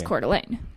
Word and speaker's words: Coeur d'Alene: The way she described it was how I just said it, which is Coeur d'Alene.